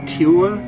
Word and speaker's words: Tule: This, sports fans, is the Tule monster. Now that's not T-O-O-L-Y, meaning he's like a tool. No, that's T-U-L-E. Looks like it would be pronounced Tule or Tule, maybe, but it's just Tule, T-U-L-E, the Tule monster.